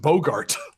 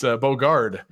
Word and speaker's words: Bogard: The point is, his last name isn't Bogart. It's Bogard, Johnny.